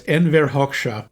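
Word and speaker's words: Enver Hoxha: Your pronunciation is flawless. It is. I'm sorry. It's Enversha.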